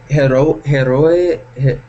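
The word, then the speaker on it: héroe: H te confunde pero la H es muda en español pero en verdad imagínate H la pronunciación es la misma hro signica paleng dos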